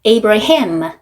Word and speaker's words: Abraham: 자, 이거를 영어로 번역했을 때 어떻게 읽냐면 Abram, Sarai 이렇게 읽는데 H만 넣어서 발음을 해줍니다. Abraham, Sarah, Sarah 이렇게 발음을 하는데 보시면은 하나님께서 이름을 바꾸기 전이나 후나 똑같은데 단지 글자 하나만 첨가를 했어요.